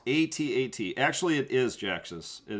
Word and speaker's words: AT-AT: go forward oh jax just is saying it's pronounced a-t-a-t actually it is jax's it is pronounced a-t-a-t i just like to call them at-ats because every time you say at one guy